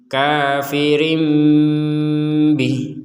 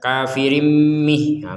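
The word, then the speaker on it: كافر به: kafirim kafirim Rim Rim ternyata setelah itu bukan mim yang kita ucapkan tapi ba artinya apa mim dibalik menjadi apa Ba dibalik menjadi mim nah ucapannya tapi setelah itu bnya diucapkan jadi kafirim Bih jadi tidak kafirim Mih kalau kafirim Mih itu betul-betul murni mim nah ini asal katanya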